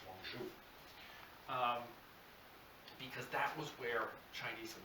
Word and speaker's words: Guangzhou: Canton, and now we call it, more correctly pronounced, Guangzhou.